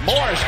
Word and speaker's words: Morris: fourth time this season he's out over 20 Morris yet in the pronunciation guide it's MMA as Moorish Christ one of the best scorers in basketball